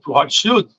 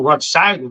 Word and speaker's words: Rothschild: E ele manda uma carta para o Rothschild, né, ou Rothschild, depende da pronúncia, germânica ou não, é que ele diz